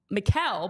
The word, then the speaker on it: Michael: Like I always use the example, I was doing a game and the player's name was Mikel, but it was spelled Michael. Like who would look at Michael and think Mikel? Siobhan, Dave P.